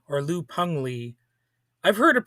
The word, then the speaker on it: Liu Pengli: And this is an episode on Liu Pengli or Liu Pengli. I've heard it pronounced both ways, so I do believe it's pronounced more like Peng, but sort of with an E sound in there as well.